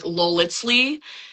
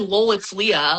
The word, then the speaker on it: lolitslea: Ooh, I hear Well, like robots like on streaming platforms usually do like lolitzley and that's quite interesting. I don't mind lol it's Leah.